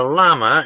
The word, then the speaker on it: llama: "About 1920, Atkinson was saying, a llama in a remote little valley in Tibet." George noticed that he pronounced the word in the austere fashion that made it rhyme with gibbet.